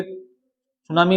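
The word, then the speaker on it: tsunami: आप लिखोगे सुनामी में टी पहले साइलेंट लेटर है, सुनामी काज्ड।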